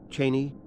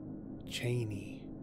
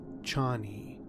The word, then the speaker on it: Chani: Paul Muad'Dib wife and Frank Harbor pronounces her name Cheney Cheney which may surprise you David Lynch's movie and the miniseries pronounces it Charney which I prefer and I think a lot of people prefer to as